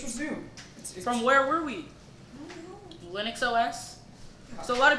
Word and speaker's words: Linux: Linux.